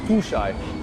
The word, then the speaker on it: Tushaj: American name in a second Albanian name it's pronounced you shy my origin comes from the north of Albania